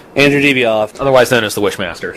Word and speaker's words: Andrew Divoff: Andrew Divoff. Andrew Divoff.